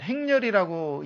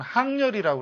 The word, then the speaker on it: 항렬: 저기다 벌릴 열자를 쓰면 행렬이라고 읽기도 하지만 항렬이라고 그래요. 너는 저분과 항렬이 어떻게 되느냐? 예, 사촌지간입니다. 할 때는 항으로 읽힌다는 거 잘 알아둬야 될 겁니다.